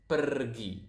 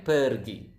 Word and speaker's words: pergi: Go is pergi. So as you can see here, we pronounce the R quite clearly. So it is kind of like Spanish.